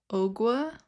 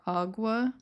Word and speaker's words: Ogua: So, this one it is called the Owa or Awa. Um, there I we Okay, before we started recording, we did look up the pronunciation because I wasn't 100% sure and there are multiple. So, you know, I'm just going to say what I feel is right.